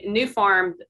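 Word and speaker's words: Nufarm: And so New Farm is the name of the company, but it's spelled N-U-F-A-R-M, and it's an Australian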